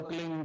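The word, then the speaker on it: क्लीं: की मात्रा और बिंदी उसका उच्चारण होगा क्लिंग ग ग की ब निकलेगी पीछ प जय गुरुदेव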